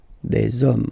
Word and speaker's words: hommes: You don't pronounce it, so you get des hommes, okay?